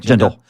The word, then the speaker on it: Jindal: So you worked with Bobby Jindal, who did I say his name right? Jindal.